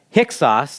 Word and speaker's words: Hyksos: When the Hyksos, now that's not how it looks like when you spell it, but that's how you pronounce it, kind of fun to say.